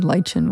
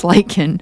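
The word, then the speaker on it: lichen: I said lchin one night and I was like Yeah. I was like why did I say it like that? Like I'm like I know it's lychen.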